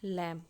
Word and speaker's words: lamb: तो डरपोक लैंप। तो यह हो गया एडजेक्टिव और यहां पर लैम हो गया नाउन और द यहां पे हो गया आर्टिकल। और यहां पे लैं में यह बी साइलेंट होता है।